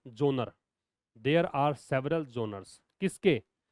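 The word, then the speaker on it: genre: देयर are several विधाओं को बोलते हैं जोनर जी ई एन आर ई एस इसकी स्पेलिंग तो अलग है जी ई एन आर ई लेकिन पढ़ते क्या हैं जोनर देयर आर सेवरल जोनर्स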